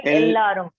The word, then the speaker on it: எல்லாரும்: எல்லாரும் Not நல்லா எல்லாரும். Long pronunciation. La means long pronunciation. வீட்ல எல்லாரும்.